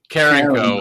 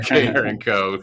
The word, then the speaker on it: Carencro: Carencro. Carencro. I should know that by now. You got to get that little Cajun in you there. Carencro, Louisiana.